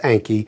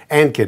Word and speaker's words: Ankit: Anky from Columbus, Ohio writes, my name is Anky. It's pronounced like a hanky, but without the H. Thanks for saying that, because I would have pronounced it Ankit.